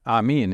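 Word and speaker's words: آمين: so the the uh the term Amin in in Arabic is just the same amen just uh with the last syllable stretched a little bit longer and it means uh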